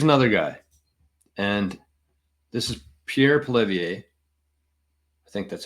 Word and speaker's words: Pierre Poilievre: But here's another guy, and this is Pierre Poilievre. I think that's how you say it, Pierre Poilievre.